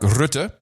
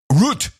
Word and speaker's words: Rutte: But that would not be the message we get from Mark Rutte, and that is the way you pronounce it, M5M, Rutte, who is a unmarried, childless former HR manager at Unilever.